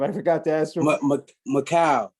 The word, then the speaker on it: Mikal: have to ask uh yeah coach campbell to pronunciation your first name i forgot to ask him macau macau yeah uh michael five letters five letters was